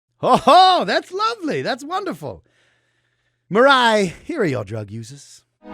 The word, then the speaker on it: Mirai: Is there anything at Hi Mirai for folks who want to follow you? Yeah, at hi.mirai. That way you can remember how to pronounce Mirai as well.